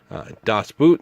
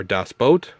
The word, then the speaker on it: Das Boot: Das Boot, the original, or Das Boat, I believe is how it's actually pronounced.